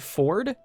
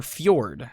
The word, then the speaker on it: fjord: be checking out the polluted Ford and uh or Fjord sorry got to get the pronunciation right but let's uh let's